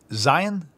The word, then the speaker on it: Zion: It's not TZ. It's just Z, like a Z sound only. The Tzadi has the TZ or TS sound. Zion.